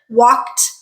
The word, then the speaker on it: walked: walk becomes W again we're not adding a syllable right we're not saying walked no walk is a one syllable word walked also is a one